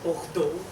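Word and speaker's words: Bordeaux: was in bordo and the people in France say bordo I've been practicing saying it correctly um and he spoke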